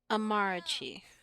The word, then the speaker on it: Amarachi: An Igbo name? Amarachi. Okay, I was saying that wrong.